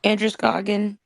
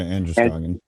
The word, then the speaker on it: Androscoggin: I forget can one of the locals say the name of the river in the area where that was found? Androscoggin. Yeah, Androscoggin.